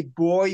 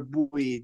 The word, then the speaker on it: buoy: to tell you that it's the same to say boy or boy the you can pronounce in either either pronunciation we say buoy yeah so we've got